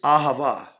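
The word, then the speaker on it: אהבה: the letters themselves and sound them out they're going to be different but the word when you sound out the word is ahava and the word for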